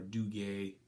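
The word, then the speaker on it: Dugas: flight attendant gate on do gas or Duguay depending on your French pronunciation mine's not awesome okay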